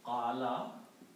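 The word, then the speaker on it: قال: And if we put one fatha on each of them, the middle one will be pronounced as alif. Qala. Qala means he said.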